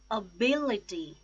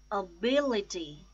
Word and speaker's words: ability: words to start with ability ability Oh bill a tee the stress is on second syllable bill ability accommodate accommodate